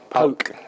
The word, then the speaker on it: PAOK: Your Arsenal career came to an end and you signed for, how do you pronounce the Greece side? PAOK.